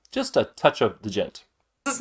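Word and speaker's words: Djent: a touch of the Gent this is not pronounced a gent the D is silent anywho stepping up to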